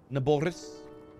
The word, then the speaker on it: Naboris: know I don't know that's how you actually pronounced it naboris nah Boris me when I'm talking